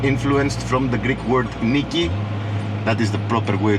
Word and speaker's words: Nike: brand that got influenced from the Greek word Nikki that is the proper way to pronounce it which means Victory so uh next